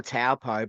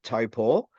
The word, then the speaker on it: Taupo: to they're gonna tell what we call taupo but it's actually taupo the way it's actually supposed to be correctly announced um or pronounced so taupo is the track